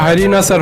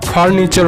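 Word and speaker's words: furniture: একদম ঠিক, তবে উচ্চারণটা হারিনাসার হবে না, ফার্নিচার হবে।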